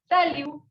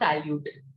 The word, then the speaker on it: salut: next common salutation is salute not salute t will be silent right so salu salu means hi or hello